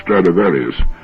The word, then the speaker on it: Stradivarius: he's ever heard of stradivarius which is the latin pronunciation of the name throughout history there have